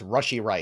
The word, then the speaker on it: Rashee Rice: I had to Justin Ross the other day because I said it wrong. It's Rashee Rice.